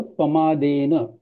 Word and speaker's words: पमादेन: इसका जो हाँ, डबल प दिखा है उसका प्रोनाउंसिएशन वैसा नहीं करते हुए हाँ, और पमादेन ऐसा करना चाहिए, हाँ, हाँ, है ना? थोड़ा थोड़ा लिटिल अप लिटिल, उसको पमादेन। ज्यादा प्रेशर नहीं देना चाहिए डबल प पे।